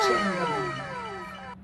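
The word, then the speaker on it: Dolce & Gabbana: sa stor yan oh dolce and gabana wow dol and gabana Yun pala yung pronounce o mm sa dalawang anak-anakan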